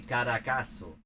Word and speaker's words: Caracazo: I'm not saying that it has to sound like native quality, but knowing that Z in Spanish is just an S sound in most of the Spanish-speaking world would be an improvement.